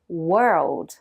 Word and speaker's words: world: mais les natifs disent World. Très compact, très fluide. Le secret, ne prononcez pas chaque lettre séparément. Imaginez presque un seul bloc sonore.